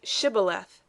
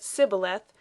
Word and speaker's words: Shibboleth: If he said no, then they said to him, Now say Shibboleth. And he said Sibboleth, for he couldn't manage to pronounce it right.